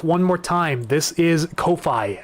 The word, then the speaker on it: Ko-fi: This is Ko-Fi. I believe it might be pronounced coffee though, but some pronounce it Ko-Fi.